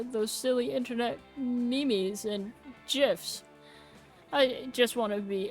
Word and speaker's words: GIF: silly internet memes and gifs I just want to be able to make him smile too first lesson it's pronounced memes and GIF with a hard G for it I'm with